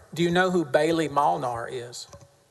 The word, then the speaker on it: Molnar: again sir sorry do you know who Bailey Molnar is spelled my last name m-o-l-n-a-r works at the